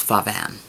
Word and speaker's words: Pho Van: My favorite restaurant in town right now is Pho Van. So it's spelled P-H-O-V-A-N.